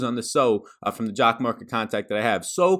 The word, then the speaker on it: Jock MKT: to be jock marketing if you're not familiar with jock market jock mkt is spelled be sure to check